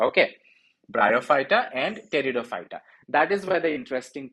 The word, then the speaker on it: Pteridophyta: is pteridophyta i know this p here in territory fighter is ignored like the middle child in your family so ignore him when you're pronouncing it okay bryophyta and teredo fighter that is where the